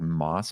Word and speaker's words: Mads: a game with you actually pronounced like moss mickelson or something like that oh but obviously it's called mads and so he wanted